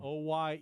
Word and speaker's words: Oyelowo: Oyelowo.